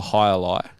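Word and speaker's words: jai alai: It's called a high lie. It's spelled like jai.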